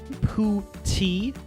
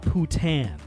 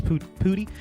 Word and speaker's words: poutine: They give us pronouncers. They say, Pootie, not Putan.